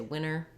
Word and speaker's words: winter: But that dropping of the T happens more in words like internet. We might say internet, or winter, we might say winter.